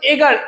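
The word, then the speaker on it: Edgar: Short fiction রয়েছে, এখানে কি বলেছে, এগার অ্যালেন পো, এটাকে বলেছে এগার, এর ডিটা সাইলেন্ট থাকবে, ঠিক আছে।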